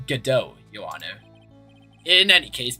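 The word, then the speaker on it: Godot: It's not Gobo, it's GDO, your honor.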